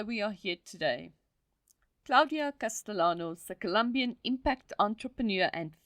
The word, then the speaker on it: Castellanos: surname would be pronounced Castellanos in Spanish we pronounce the Double L like you so Gloria Castellanos is